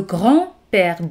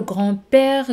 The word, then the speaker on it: grand-père: Le grand-père. D no se pronuncia.